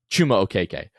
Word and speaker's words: Chuma Okeke: Chuma Okeke. I'm on a hot streak. I've used it in the proper context. I've been pronouncing it correctly.